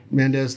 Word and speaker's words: Mendes: is like even the guy said it right mendes they had they said hendo is one of